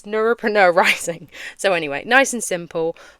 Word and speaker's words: Neuropreneur Rising: Um, honestly, if I'm being so real, people can't pronounce Neuropreneur Rising. They see it written on the screen and they're like Neurop Neurop Neuro and I'm like dude, it's Neuropreneur Rising.